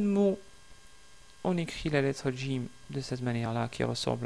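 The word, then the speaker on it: جيم: Il faut essayer de prononcer Jim au lieu de Jim. Donc c'est Jim, Jim. Vous attachez votre langue au palais.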